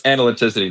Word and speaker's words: analyticity: I I can't even make my mouth conjure the noise you made. Um, but it's analyticity next time you decide